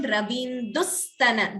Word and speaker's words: रवीन्दुस्तन: Again, here observe this, the pronunciation Ravindustana, Dvitvam. Ravindustana yugam. Extra s is being heard, more stress on sa.